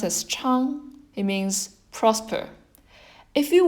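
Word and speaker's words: 昌: then seal the contour up this one is pronounced as Cheung it means prosper if you work from when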